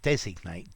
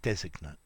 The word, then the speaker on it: designate: Yeah, no, we don't change the stress. We change the pronunciation. Designate, designate.